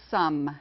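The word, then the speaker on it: Somme: dylan battle of the sane it wasn't a pronunciation problem it's the battle of the sum s-o-m-m-e all right humanities is the next category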